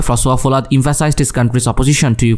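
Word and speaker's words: François Hollande: but France then prime minister ফ্রাঁসোয়া ফোলাদ, তার নাম আসলে ফ্রেঞ্চ উচ্চারণ করলে ফ্রাঁসোয়া ফোলাদ, emphasized his country's opposition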